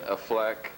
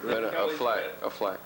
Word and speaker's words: Affleck: Ben Affleck. Kelly. No, it's Ben Affleck. Affleck. She said it right. It's like Bullback. Affleck. Ben Bullback. Affleck. It's Bullback. actually Hands down, Ben.